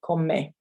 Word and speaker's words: come: so comes me so don't forget we pronounce all the letters in spanish um so even though it looks like the english word come uh it's not pronounced that way so call me and that's that's just